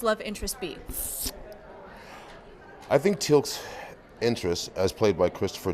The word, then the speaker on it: Teal'c: Teal'c? Okay. Am I saying it wrong? Teal'c.